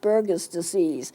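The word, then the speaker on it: Buerger's disease: a little different spelling to it but it's pronounced burgers disease it shrinks up the blood vessels it causes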